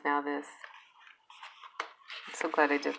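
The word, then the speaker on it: Nauthiz: It's pronounced now this.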